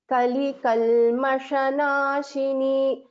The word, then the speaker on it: कलिकल्मषनाशिनी: Only thing is you have to distinguish between this Shankara Sha and Sha, this Sha, which is in green. Kali Kalmashanashini.